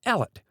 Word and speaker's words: Elliot: hellwood hot allet Elliot it is remarkable that in many districts in the south of Scotland the name is still pronounced Ellet though this is one